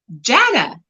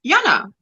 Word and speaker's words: Jana: for the first time the American way Jana not Jana because in Afrikaans we say Yana so and then I'm